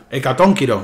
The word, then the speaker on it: Hecatónquiro: Hecatónquiro, mejor dicho. Que hay que pronunciar bien el acento.